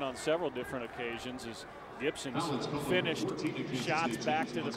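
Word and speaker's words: Gipson: with thomas gibson and it does sound like gibson with a fee because that's the pronunciation even if you see the p on the back of his shirt we played a lot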